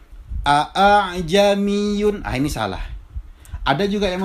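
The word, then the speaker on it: ءَأَعْجَمِيٌّ: Yang benar bacanya adalah a'jamiyun. Jadi huruf alifnya itu di musahhala, ditashil. A'jamiyun wa arabi. Jadi bukan bukan juga a'jamiyun, bukan. Tetapi caranya adalah dengan cara ditashil.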